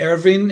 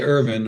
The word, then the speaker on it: Erwin: Either way, the Hungarians say Ervin, and Okay. I say Irvin or Irv.